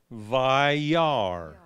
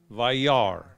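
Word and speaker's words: וַיַּרְא: And now that you know how to pronounce that word, I'll show it again. Vayar. Vayar.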